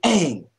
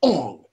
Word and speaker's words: Aang: And also, the way that you pronounce the names in this goddamn movie is fucking stupid. It's fucking stupid. It's Aang, not Ong.